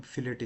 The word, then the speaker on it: fillet: फिले या फिलेट। वैसे टी साइलेंट होता है। फिले होता है ये। लेकिन हम फिलेट इसे बोलेंगे। कई लोग फिलेट बोलते हैं, कई लोग फिले बोलते हैं।